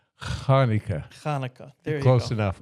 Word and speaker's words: Chanukah: Um in Hebrew it's actually pronounced Kaneka. Um, for many people it's hard to um do the um let me try. Kaneka.